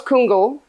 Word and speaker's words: Kungl: it now uh so it is it was kungl and now it is uh kungo fer